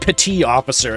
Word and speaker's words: petty officer: It comes from the French word petite, meaning small officer, because they're technically a subordinate to regular officers. So really, you would probably pronounce it petit officer instead of petty.